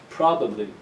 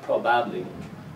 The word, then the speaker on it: probably: Same thing with this word here, probably. This first syllable is the strong one, so the ba of the second syllable becomes weak. The, probably, not probably, probably.